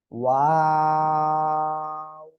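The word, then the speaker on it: واو: তিন আলিফ টেনে পড়বো। ওয়াও। এটা বলে আমরা একটু টেনে পড়বো তিন আলিফ, তারপরে আবার দুই ঠোঁট গোল করব।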